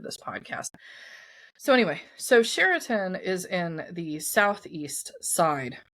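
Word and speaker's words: Chariton: For today's episode, it's going to be a town called Sherin. And if you want to look this up on the map, it's spelled C H A R I T O N, but it's pronounced Sherin.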